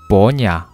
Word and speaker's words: 般若: Trong tiếng khách gia đọc hai từ Bát Nhã đọc là Bổ Nhã, thì nó rất giống với cái âm Phạn hay là cái âm Bát Nhã trong tiếng Việt.